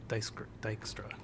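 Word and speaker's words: Dijkstra: said that wrong uh so I will say Edgar edskirt Dykstra geek Street I always said air Dexter yeah okay I I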